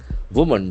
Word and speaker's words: woman: Woman discharged from hospital in Kochi after removal of artery forceps. So woman, W-O-M-A-N, this has got a beautiful pronunciation. Woman. Woman, accent falls on the first syllable, woman.